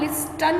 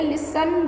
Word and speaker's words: listen: हम लिस्टन नहीं बोलते, लिसन बोलते हैं। Okay, T is silent.